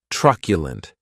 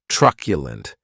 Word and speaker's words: truculent: the next adjective is truculent and this word has three syllables and the stress is on that first syllable keep in mind that